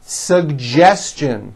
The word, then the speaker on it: suggestion: educate that has also an unusual pronunciation let me break it down for you educate educate next one suggestion this one's also a bit tricky sugestion suggestion